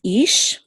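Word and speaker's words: אִישׁ: So this is ish, and there's only one syllable.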